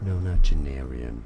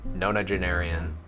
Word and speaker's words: nonagenarian: Nonagenarian. Nonagenarian.